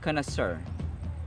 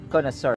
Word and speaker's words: connoisseur: two or more divisions that's core this is pronounced connoisseur connoisseur would you mind giving a shot that's right you got it connoisseur how do you pronounce this it's ambassador ambassador